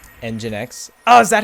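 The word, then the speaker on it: nginx: Engine X. Oh, is that how you pronounce that?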